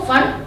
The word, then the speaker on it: Pfund: 3 bracket 4 एंड फंड की spelling है PFUND, उसमें P साइलेंट है तो फंड 5th।